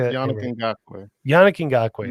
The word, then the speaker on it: Ngakoue: Yannick Ngakoue. Yannick Ngakoue. It sounds like guacamole. Well, you did it better this time. Last time you said Njikui.